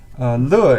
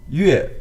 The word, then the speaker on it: 乐: Le is an interesting character. Incidentally, it's the same for music, but pronounced differently. Yue, we have another pronunciation, is music.